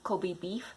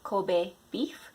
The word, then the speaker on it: Kobe: So many people say Kobe beef, but it's Kobe beef.